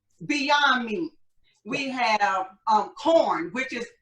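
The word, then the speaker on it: Quorn: me we have um corn which is it's spelled q-u-o-r-n so people pronounce it people think i'm saying porn but it's pronounced it's pronounced that way but it's spelled with the q but they have the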